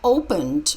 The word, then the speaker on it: opened: to open the best of open teach Andrea opened with d the shops opened two hours ago